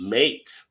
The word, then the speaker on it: M8: Now you may say M8 Mate. is about to open, but it's actually Mate. pronounced Mate. Mate. So you see what they did there? The M and the 8, they just made it Mate.